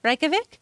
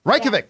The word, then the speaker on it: Reykjavik: did not what's that Reykjavik Reykjavik that is how you say it you're right Reykjavik Iceland the woman involved